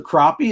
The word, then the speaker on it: crappie: You can fly fish for crappie in Mississippi?